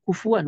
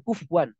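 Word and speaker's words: كُفُوًا: Ingat ya bacanya kufuan bukan kufwan. Beda. Kan sering ada imam bacanya walam yakun lahu kufwan. Nah, itu salah.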